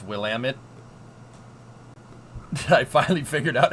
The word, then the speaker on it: Willamette: Exactly, Willamette. Exactly, that's how you say it. I was saying Williamette all the time, and it was not, that's not, yep.